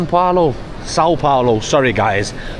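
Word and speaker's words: São Paulo: S Paulo, Sao Paulo. Sorry, guys. Saying San saying instead of Sao, but you know, it's my first day, so it takes me a little minute to get the pronunciation.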